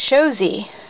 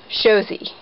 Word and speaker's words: Shosie: my nicknames is Shosie, and it's just like Sho and Z. Shosie. So I just want you to know that. That makes it easier for you because Shoshana is kind of a mouthful, but you can hopefully pronounce my name a little easier now. It's just Shosie, like a picture show, and the letter Z, Shosie, Shosie G.